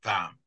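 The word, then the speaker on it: vin: Yeah, it's like French for wine is VAM, but it's V-I-M.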